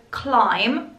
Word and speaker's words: climb: Climbing, the word climb, you know, I know there is a B at the end, but we do not pronounce it.